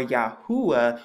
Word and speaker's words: Yahuwah: You get the y, the ah, the oo sound, and the ah, and when you put it together, you get Yahoo-ah or Yahuwah when you put it together.